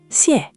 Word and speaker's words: xiè: Xiè. Xiè. Xiè. Okay, less Sh, more of a hiss.